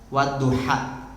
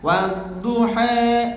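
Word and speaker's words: والضحى: Jadi sejatinya kan di Indonesia ini yang dibaca adalah riwayat Hafs wadduha, dibacanya dibuka ha. Ini mah diimalahkan wadduha.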